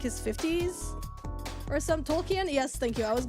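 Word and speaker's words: Tolkien: It's pronounc pronounced Tolken.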